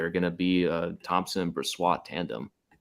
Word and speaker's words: Brossoit: Did I say it right there? You had it there. It's Brossoit. Brossoit.